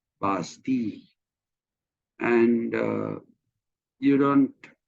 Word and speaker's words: Bastille: is a prison, Bastille, but you don't pronounce that as Bastilla. You just pronounce that as Bastille, and you don't pronounce, for example, uh, the palace of what will be in English.